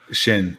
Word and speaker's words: Xin: What is Xin? Shin. Okay. Xin. Shin Liu.